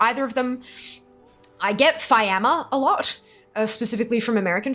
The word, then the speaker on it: Fiamma: So obviously, like, so my name is Fiamma. For those of you who are relatively new here, it's pronounced Fiamma. It's Italian.